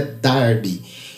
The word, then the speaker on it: Darby: John Nelson Darby, melhor dizendo, a pronúncia correta é Darby.